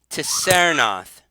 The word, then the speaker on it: Tsernoth: She says, however, if you look for a necromancer named Tissernoth, and that's spelled Tsernoth.